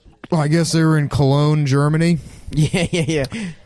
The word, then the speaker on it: Cologne: Anyhow, so we're watching the one where, I guess they were in Cologne, Germany. Yeah. And which one of them pronounces as colon.